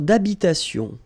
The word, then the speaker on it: habitation: Une tour d'habitation. Remember, H doesn't exist in French, well, in most of the cases. So it does mean that you don't pronounce it. All right, so d'habitation.